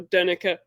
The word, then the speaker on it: Donnecke: So Donnecke for future reference.